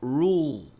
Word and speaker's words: rule: A pronúncia é rule. Tem um L aqui. Esse L a gente não tem em português. Roll. A a base da língua desce e a ponta da língua sobe. Roll.